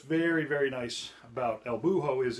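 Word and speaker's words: búho: Legs the owl el buho the H is silent or maybe I just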